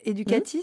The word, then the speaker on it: Educati: Clapoti et du site Educati. C'est bien comme ça qu'on prononce ? Exactement. Exactement. C'est bien i à la fin.